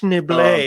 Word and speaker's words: Schneebly: you just call me schneebly it's actually pronounced schnible pretty sure there's an s in it enough